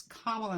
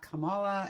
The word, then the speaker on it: Kamala: I glanced out of my lyrics, and it's Kamala, not Kamala, and I know better, and I even made fun of people who mispronounce it, so you can all make fun of me.